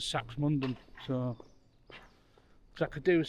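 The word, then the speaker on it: Saxmundham: So now I know that the locals pronounce sachs as saks mundon.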